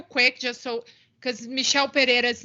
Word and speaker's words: Pereira: because michelle pereira's name it's like a hard r it's not pejera you might be confusing it with which is actually my last name but it's pronounced different because fajita has two hours and pejita has one r sorry had to get